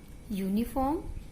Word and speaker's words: uniform: Its beginning letter is U and U comes in vowel sound. But in both words, we pronounce both words as uniform and unicorn, not unicorn. And here sound comes in consonant.